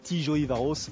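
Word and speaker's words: Tiszaújváros: peu près 200 km Tijo ivaros prononcé Tijo ivaros c'est pas simple donc 6e rendez-vous de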